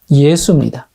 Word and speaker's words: 예수: 그러면 이 여호수아라는 말을 헬라어로 발음하면 이 여호수아 이름이 어떻게 됩니까? 예수입니다. 그러니까 히브리어 여호수아가 헬라어로 예수입니다.